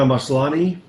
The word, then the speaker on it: Maslany: The Crown, Nicole Kidman, Big Little Lies, Tatiana Maslany, that's how you say it, Kiefer, Orphan Black, Elizabeth Moss, The Handmaid's Tale, Elizabeth Moss, Mad Men, and Kerry Russell, The Americans.